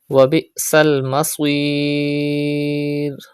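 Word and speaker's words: وَبِئْسَ الْمَصِيرُ: Wabi'sal maswir. Pronounce hamza sakin with sudden pause and stretch madde ariz at the end of this word.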